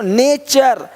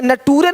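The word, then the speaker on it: nature: देखो नेचर, यहाँ पे नटूरे नहीं बोलते, नटूरे नहीं, नेचर, है ना।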